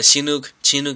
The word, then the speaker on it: Chinook: You know, like people say Chinook, but I call it Chinook. That's how I pronounce it. Chinook.